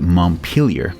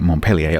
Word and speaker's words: Montpelier: here which is the Montpelier to give it its correct American pronunciation which of course is a town in Vermont I confess I've been pronouncing it Montpelier up to now until